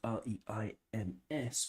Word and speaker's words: Reims: And he joined Paris Saint-Germain from Reims, which is spelled R-E-I-M-S, but is pronounced Reims. It's my best pronunciation. It's not very good, but it's not bad.